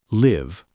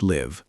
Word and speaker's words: live: Live, verb, pronounced live. Short I. Shadow. I live in Tashkent. Now pause and repeat live 5 times. Live, adjective, like concert, pronounced live. Long I.